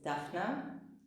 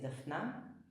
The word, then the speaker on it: Dafna: My name is Dafna, or in Hebrew I pronounce it Dafna.